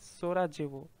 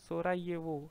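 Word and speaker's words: Sarajevo: So Bosnia and हर्जोगोविना से आप कह सकते हैं बॉस नहीं आया, that's capital is सोराजेवो, सोराजेवो, सोराएवो, sorry सोराएवो, सो जे is silent.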